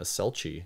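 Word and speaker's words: selchie: time confirms that she must have been a selchi which is how they spell it in here s-e-l-c-h-i-e but also disavows that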